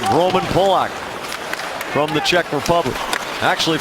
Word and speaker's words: Polak: Paille there against Polak, and that is how the 8-year veteran pronounces his name, Roman Polak, from the Czech Republic.